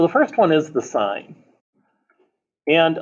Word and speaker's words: sine: first one is the sign and officially the word sign is spelled out s-i-n-e although invariably we abbreviate it so it looks like sin you know this is